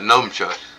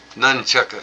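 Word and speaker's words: nunchaku: I said, "Well, it's not numchucks. It's numb head by the Chucks." Numchuck. Nunchucka. N- U N C H A K U. Nunchucka. Most people don't even know how to pronounce it, let alone spell it.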